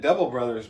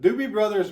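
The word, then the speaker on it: Doobie Brothers: did point out that I said it wrong on my uh live unboxing I think I was calling it devil Brothers but Dobie Brothers makes a whole lot more sense I think this one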